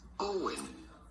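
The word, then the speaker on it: Eoin: go about pronouncing it not like it's spelt but simply owen ian owen so you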